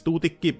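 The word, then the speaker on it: Tuutikki: Chief amongst whom is Tutiki. Yes, that's the Finnish pronunciation.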